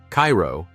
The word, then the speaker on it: Cairo: Cairo, pronounced Cairo, sits at the southern tip of Illinois, where the Ohio and Mississippi rivers converge.